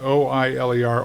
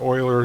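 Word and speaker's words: Euler: He pronounced like like O I L E R Oiler. Some people might say Uler, but it's Oiler.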